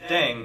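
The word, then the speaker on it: 땡: playing with language now the pronunciation of dang is similar to thang which is the slang of thing in english last but not least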